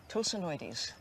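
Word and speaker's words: Tosanoides: How do I pronounce the first part of it? Oh, that's easy. Tosinoides.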